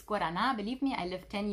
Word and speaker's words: guarana: some powdered guarana so this is actually not pronounced guarana so it's guarana believe me i live 10 years in brazil